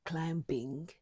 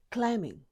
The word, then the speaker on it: climbing: Don't say climbing, say climbing.